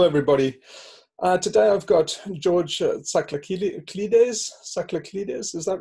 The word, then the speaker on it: Tsakraklides: Tell me, Tsakraklides, is that right? That's pretty good, actually. You've got the whole rhythm. Okay. There's a rare sound in it.